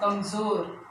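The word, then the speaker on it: कमज़ोर: कमजोर, ज के नीचे नुक्ता लगा है तो कमजोर।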